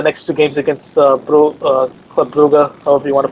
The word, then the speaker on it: Brugge: I think they're gonna win the next two games against Club Brugge, however you want to pronounce it. Bruges.